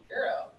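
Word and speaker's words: gyro: Technically, that's pronounced Euro. So that's a silent G.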